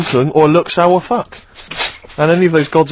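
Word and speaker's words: Fuk: F-U-K. That's how it's pronounced.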